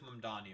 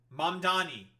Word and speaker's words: Mamdani: Based of Mundani, of course, I'm running and I'm going to beat Madani.